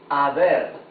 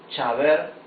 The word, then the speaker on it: haber: I wanted to show you that this verb, haber, we can see that it begins with letter H. Letter H, A, B, E, R. However, when we read it, we say haber, right? We don't say chaber or haber.